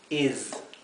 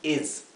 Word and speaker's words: is: He is. He is. Y aquí la s, intenten que sea zumbada. No es una s como del español, no es es is.